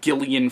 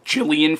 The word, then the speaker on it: Gillian: on Dark Places by Gillian Flynn or Jillian Flynn however you want to say her first name once again I've heard it pronounced both ways but yeah that's my